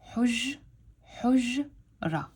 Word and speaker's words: حجرة: So over here, I'm making 2 sounds. حج, حج, ra. When I say 2 sounds, I mean 2 syllables, because I am pronouncing this part all at once, and I'm going حج, حج. And I'm pronouncing this part over here at once, and I'm going ra.